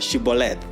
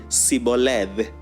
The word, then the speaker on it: Shibboleth: So they would tell them to say the word Shibboleth. And it is said that the Ephraimites could not pronounce Shibboleth. They would say Siboleth, Siboleth, without she.